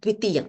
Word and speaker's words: द्वितीयं: Okay, it is not dvitiyam, it is dvitiyam. Dirgham.